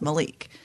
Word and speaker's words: Malec: Apparently, it's supposed to be the one I thought was Malik is Malec is supposed to be pronounced Malik.